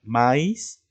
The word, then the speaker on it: maíz: bien maíz ya y en la palabra maíz donde lleva la mayor fuerza de voz la vocal en la segunda no maíz entonces lleva